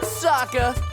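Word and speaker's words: Sokka: series that's right I'm Saka it's pronounced with an AA young ladies I rocked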